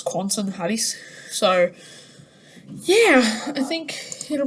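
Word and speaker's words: Quentin Halys: quansen had he says i've listened to a pronunciation of it it's um because it's french that's quantum hatties so yeah i think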